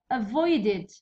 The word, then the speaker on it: avoided: Next avoided، avoided it's id avoided.